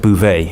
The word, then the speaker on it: Bouvet: There is a friend of mine in France called Eric Bouvet. Oh, yeah. ERICBOUVET. Silent T on the end.